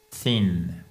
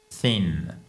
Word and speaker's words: thin: Fin en français se prononce thin. Thin.